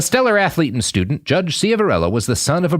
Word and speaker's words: Ciavarella: Yeah, Ciavarella is how it's pronounced, more or less.